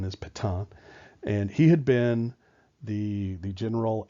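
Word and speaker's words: Pétain: the army a guy by the name of Patong that's how it's pronounced ptai n is Patong and he had been the the general at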